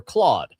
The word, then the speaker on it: Claude: uh funny enough uh folks who are native uh French speakers pronounce it totally different. They kept they call it clude and I and during the workshop I was like who? Oh Claude.